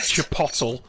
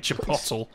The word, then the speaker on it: chipotle: Do you know, the one that I hate the most about that is chipotle. People over here have called chipotle chipotle.